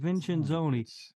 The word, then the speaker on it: Vincenzoni: Vincenzoni.